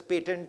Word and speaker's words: patent: I keep referring to it as patent sometimes and patent. Patent is the US pronunciation, patent is the Indian pronunciation.